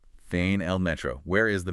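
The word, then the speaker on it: فين: Feain. Fain. That rhymes with rain. Pretty close, a bit more clipped. Feain.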